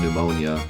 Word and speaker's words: pneumonia: the hospital every day what happened to the s at the end of arkansas well the s at the end of arkansas and the p at the beginning of pneumonia escaped escaped the letter jar